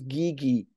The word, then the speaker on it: Guigui: all versions of it my last name is pronounced Gigi I thought so yeah